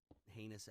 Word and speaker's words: heinous: We're like that asshole that ends up ending something horrible by committing a heinous act? Heinous, that rhymes with anus.